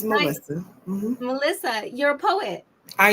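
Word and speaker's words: Malysa: It's Melissa.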